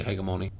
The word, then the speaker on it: hegemony: i get 2 000 hegemony or hegemony however you want to say it i like the hard g so i'm going to say hegemony i thought it'd be